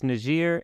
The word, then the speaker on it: Niger: pronounce it the way it's intended to be pronounced not just because I'm too lazy to learn the accents so yeah it's it's najir and then it's uh if you're talking about